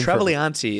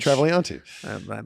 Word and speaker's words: Travagliante: Joseph is, I don't think I've ever told anybody Pronounce this. your real last name. Travagliante is the actual last name. Vic Travagliante.